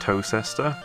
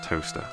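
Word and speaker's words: Towcester: I have looked up the pronunciation of Toaster, by the way. It's not Tocester. It's definitely just Toaster.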